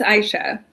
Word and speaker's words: Aisha: How do you say it? Oh, I'm sorry. Go ahead, Javier. It's Aisha. Aisha.